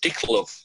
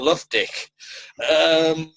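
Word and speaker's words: Lovedick: wrong every time, because he keeps calling him Mr. Dicklove. And he has to correct him every time, Mr. Love Dick.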